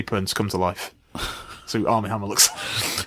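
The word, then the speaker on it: Armie Hammer: to pronounce his name am I hamir no no they said am I hmer and I just I'm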